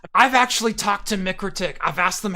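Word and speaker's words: MikroTik: how they say it guess how they say it it's mikritic it's not micro tick it's not micro toxic it's it's not it's microtic that's how they pronounce it so that's how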